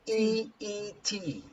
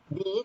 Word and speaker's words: beet: Beet, okay? Because beet, this one is pronounced the same. Crazy about. Huh? B-E-A-T, the pronunciation is similar, but it is not the same spelling, okay?